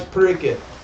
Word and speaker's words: Pariksit: Maharaj Pariksit.